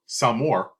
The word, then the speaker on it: s'more: A s'more, pronounced s'more or s'amour, takes the three best